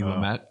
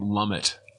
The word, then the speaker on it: Lumet: I don't know if you heard of the director Sidney Lumet. This guy pronounces his name Lumet, and isn't it pronounced Lumet though?